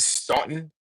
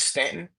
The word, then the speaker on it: Staunton: from that area, and they pronounced it Staunton instead of Stanton, that was the trigger